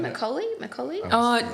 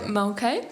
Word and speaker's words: Mulcahy: Is it Macaulay? Mulcahy.